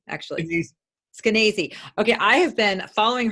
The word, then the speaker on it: Skenazy: How do you pronounce her name, actually? Skenazy.